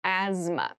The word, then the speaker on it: asthma: deep cavity deep cavity asthma asthma Asma so this word has very interesting spelling there's a th in the middle but we don't say Asma we say Asma so kind of ignore that but try to remember